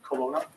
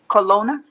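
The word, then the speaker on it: Colonna: record please I'm n your last name Colona Colona can you spell that c o l o n n a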